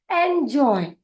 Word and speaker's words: enjoy: ई का उच्चारण होता है ए, एन का उच्चारण न, जे का उच्चारण ज, ओ का उच्चारण ओ, और वाई का उच्चारण य। ENJOY, इसका हम एक साथ उच्चारित करेंगे एंजॉय, एंजॉय। हम बढ़ेंगे अगले शब्द की ओर जो कि है ADOPT।